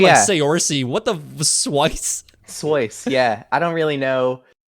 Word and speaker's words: Saoirse: What are some of the funniest pronunciations you've ever heard of your name? Has it like Okay, um, Swice is one. what? I was Oh thinking like yeah, Saoirse.